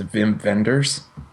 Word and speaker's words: Wim Wenders: Whim Wenders, which him being German, I want to pronounce it as Vim Venders.